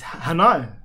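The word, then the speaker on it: Hanni: what is it what is it it's it's Hanah SP say that even though I can't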